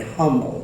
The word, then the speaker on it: Humble: called humble it's spelled h-u-m-b-l-e but there's nobody humble in Texas so it's pronounced humble my family came here and 1734